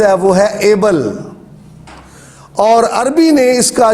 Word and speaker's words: Abel: اردو میں اس کا تلفظ ہابل ہے، اور انگلش میں اس کا جو تلفظ ہے وہ ہے ایبل.